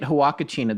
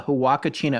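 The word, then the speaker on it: Huacachina: when you look at hawakachina this is spelled h-u-a-c-a-c-h-i-n-a when you look at this online you look up at the hawakashina Oasis it is the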